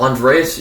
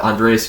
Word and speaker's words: Andreas: jersey and then uh andres yeah yeah johnson i've heard this guy's name pronounced in a bunch show my bad andreas johnson scores a power